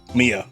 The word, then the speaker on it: Mia: Mia, not Maya.